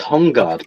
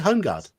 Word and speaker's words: Holmgard: We would say like the home. We would, at least I would pronounce it Holmgard. Well, the L would be present.